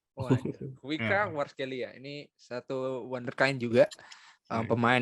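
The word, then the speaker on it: Khvicha Kvaratskhelia: Gue bingung bacanya gimana. Kevika Kvaratskhelia. Kuica Kvaratskhelia.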